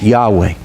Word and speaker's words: Yahweh: We don't even know for sure how to pronounce it. These days, most people think it was Yahweh. 100 years ago, they said Jehovah.